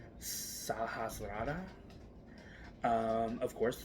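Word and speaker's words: Sahasrara: that is our Crown in Sanskrit it is pronounced sahasrada um of course it's located on the top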